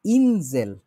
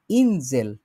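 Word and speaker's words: Insel: এইখানে হচ্ছে একটা জিনিস শিখার আছে, এটা হচ্ছে ইনজেল। দি ইনজেল, এটা হচ্ছে দ্বীপ।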